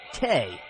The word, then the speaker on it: THE: They go by the name THE, pronounced Tay.